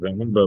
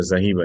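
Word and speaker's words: ذَهَبَ: ہم سیکھتے ہیں کہ لفظ ذہبہ بولا جاتا ہے، ذہیبہ نہیں بولا جاتا، ٹھیک ہے؟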